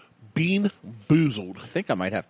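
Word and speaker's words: BeanBoozled: It's the buckhorn bamboozled fiery challenge. You can't even say it right. Buckhorn bean boozled fiery challenge. Yeah. Boon bezled. Bean bean boozled. Bean boozled.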